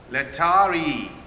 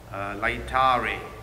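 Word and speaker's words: Laetare: My dear brothers and sisters, the fourth Sunday of Lent is called Lectari Sunday. Lectari is the English pronunciation of the word. In Latin, it says Lectare.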